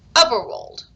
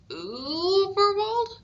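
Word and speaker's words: Überwald: Uberwold, he read out. That's Uberwold, said a small, squeaky, but very clear voice. The dots make it a sort of long ooh sound, but you're doing well. Uberwold?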